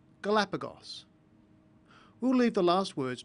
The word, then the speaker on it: Galapagos: It's pronounced s after a short vowel, Galapagos.